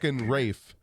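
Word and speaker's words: Ralph Fiennes: like my name's villam same with rafe ray finds the motherfucker's name is spelled ralph r-a-l-p-h but he calls himself brave yeah who's raised florence boulder oh really it's not rape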